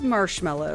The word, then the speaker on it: marshmallow: Delicious marshmallow. M-A-R-S-H-M-A-L-L-O-W. That is correct. Yeah. Two for two for me. A lot of times people get slipped up on that and spell it M-E. Like mellow.